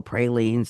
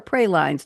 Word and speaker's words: praline: June 24th, the national holiday today is National Pralines Day or Prelines depending on where you're from and how you like to pronounce it.